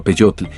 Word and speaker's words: peyotl: Y algunas de las plantas que muestra son el peyote, que se pronunciaba peyotl, y que servía para